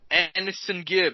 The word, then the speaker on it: AnEsonGib: Okay, so Jake Paul taking on AnEsonGib.